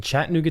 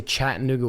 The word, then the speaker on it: Chattanooga: sharp Northeast accent but I say Chattanooga without T so I don't know if somebody from my neck of the woods up in New England would pronunciate the t's or say I'm like DS like you do Chattanooga I just always say Chattanooga yes cuz I just